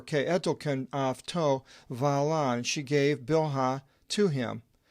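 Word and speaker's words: Βαλλά: Verse 3, Ipe they Rachel to Yaakov, and Rachel said to Jacob, Idhu, Ipaithiski mu vala, behold, my maidservant Bilhah, vala in the Greek, it's pronounced.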